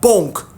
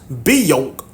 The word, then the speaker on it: Bonk: There's a place called Bonk, said Vimes, still marvelling at the speed with which they'd got here from a damp letter about dogs. Strictly speaking, sir, it's more correctly pronounced Beyonk, said Carrot.